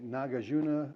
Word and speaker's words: Nagarjuna: conditions now nagarjuna now I've heard some people say nagajuna or nagujina I don't know but the diacritical markings on the two A's were the same so I can kind of pronounce them the same so nagajuna he gave